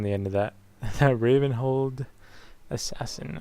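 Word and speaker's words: Ravenholdt: kind of thinking the Raven hold assassin didn't know there's a t on the end of that that Raven hold assassin I guess the t is silent but uh I could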